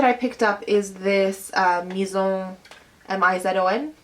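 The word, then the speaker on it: Mizon: The other thing that I picked up is this Maison, M-I-Z-O-N, Maison. I think it's like an Asian brand, so you probably don't pronounce it the French way.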